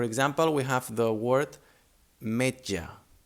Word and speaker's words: metge: The sound doesn't change, but it may be a bit difficult to pronounce at the beginning.